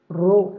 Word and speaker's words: rho: Here not projected in top left and right, then caps, this is small, pi, p, English word, pi, pronunciation different, rho, rho, small p, rho, caps p, for capital letter, uppercase, here r, rho, okay.